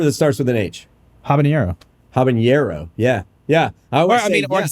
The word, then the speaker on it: habanero: I heard Chet mispronounce habanero the H is silent but it does not